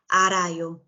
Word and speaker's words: 알아요: We have to pronounce it 알아요. The 받침 moves up to the next syllable because the first consonant of the second syllable is empty.